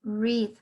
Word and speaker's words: read: Si están ustedes pronunciando este verbo en pasado simple o pasado participio, va a tener la pronunciación como si fuese el color rojo. Es decir, van a pronunciar read.